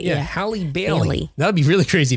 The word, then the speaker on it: Halle Bailey: have to make sure I say it right, Halle Bailey. Right, because you don't want to say I think it's Halle Berry, right? Yeah, Halle Bailey.